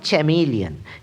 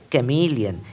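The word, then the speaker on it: chameleon: এটির উচ্চারণ অনেকের মত আমিও করতাম চ্যামেলিয়ন। কিন্তু এটি ঠিক নয়। সঠিক উচ্চারণটি হবে ক্যামিলিয়ন। এখানে সিইচ চ নয় ক।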